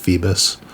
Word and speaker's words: Phoebus: his name is phoebus kind of looks like phobos but i think it's pronounced phoebus soldier kind of working